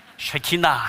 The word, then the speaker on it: 쉐키나: 이걸 쉐키나 아고 합니다 쉐키나 예 발음 잘하셔야 됩니다 쉐키나 해야지 야 하면 큰 일납니다 쉐키나 제가 최근에 특별히